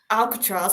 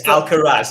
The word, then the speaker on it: Alcaraz: know nothing about sport Alcatraz I probably said his name wrong though it's alcaraz there's no tea in it yeah he's he's